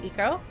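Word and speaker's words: Ico: of the beginning of i thought it was pronounced aiko it's actually pronounced eco my band mates looked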